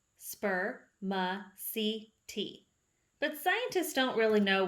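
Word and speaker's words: spermaceti: heads it is called spermicity you say it like this spur ma c t but scientists don't really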